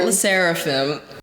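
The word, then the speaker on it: LE SSERAFIM: says sarim sarim it's there's like an L E before too L like it's I think it's French L everyone's pronouncing it l seraphim it's the seraphim yes okay but Fearless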